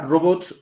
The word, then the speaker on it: robots: seguimos seguimos por acá dice la palabra robots no lleva tilde está ya precisando el Por qué Y ya pasó eso eso yo también lo hemos visto por qué no lleva tilde robots si está terminando dice es aguda que termina en consonante s no es aguda que termina en doble consonante ts es grave terminada no es robots que